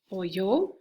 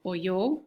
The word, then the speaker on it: oyó: And it would be oyó, okay, with just the accent on the O. So oyó, he or she heard.